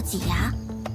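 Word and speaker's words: 挤牙: 甲人叫做挤牙，这听起来很奇怪，但是挤牙的读音连起来念夹，在我们那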